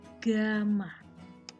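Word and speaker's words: γ: ini mirip Alfa Tapi dibalik Hai Bacanya adalah Gama he Bacanya adalah ga jadi Kalau pemuaian volume fenol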